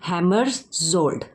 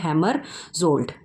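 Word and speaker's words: Hammarskjöld: डैग ठीक है डैग हैमर जोल्ड ठीक है हैमर्स होल्ड जो है इसको प्रोनाउंस किया जाएगा ठीक है जे साइलेंट है हैमर सोल्ड ठीक है होल्ड देन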